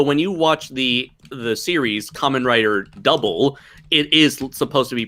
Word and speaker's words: Kamen Rider W: So, in Japanese, the letter W is pronounced double, and it doubles as the word double.